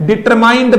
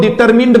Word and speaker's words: determined: फिर से रिक्वेस्ट है, डिटरमाइंड मत बोलना प्यारे दोस्तों, डिटरमिन्ड बोलना।